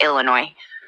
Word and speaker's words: Illinois: you ask I everyone that doesn't live here pronounces it Illinois with an S so I say it to to mock that kind of but it's it's a silent ass it's Illinois it I if I didn't live here I